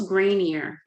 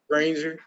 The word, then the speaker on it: Grainger: And what's Grainier or what is it called? Granger, Granger. yeah, it's spelled Grainger.